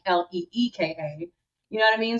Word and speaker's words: Alyka: So with that, but because of the spelling of my name being a l y ka, the pronunciation is like l e ka.